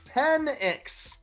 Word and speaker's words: Penix: Indiana's quarterback is named Michael Penix, Penix, pronounced Penix.